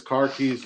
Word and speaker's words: khakis: Theo says car keys is how you pronounce khakis in Boston.